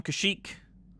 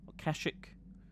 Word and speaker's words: Kashyyyk: so we're back on Kashyyyk Kashuk I'll pronounce it both ways for those who care and we're gonna do